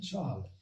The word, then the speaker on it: Chasles: Il s'écrit Chasles, Charles, et se lit Charles.